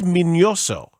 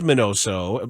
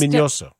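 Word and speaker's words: Miñoso: it right minos yeah there's a tilde it's a it's it is minoso but everyone says minoso and ozzy you know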